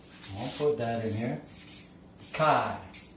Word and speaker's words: chi: It's pronounced Chi. I'll put that in here. Chi, the long I.